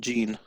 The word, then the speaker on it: Jin: But it's spelled to someone Jin, which I've always said Jin. That's true. That's interesting. But he said like his voice was Gene.